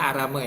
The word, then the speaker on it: Aramo: ya itu di kecamatan arame eh bacanya arame Ya tulisannya aramo nah waktu itu kita